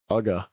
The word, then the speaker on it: Uga: Uga. Uga? Yeah. Uga's gonna be 2. Clever. It's spelled UGA, just like University of Georgia.